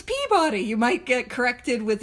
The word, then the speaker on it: Peabody: And I've been told that it is not pronounced Peabody, it is pronounced Peabody. And so I pronounce it Peabody.